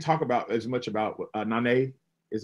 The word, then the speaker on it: Nanay: And we didn't talk about as much about Nanay, is how you say it? Nanay, yeah, who I just love.